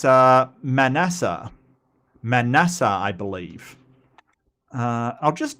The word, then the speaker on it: Manasseh: Manasseh. Yep, that's right. So it's pronounced Manasseh.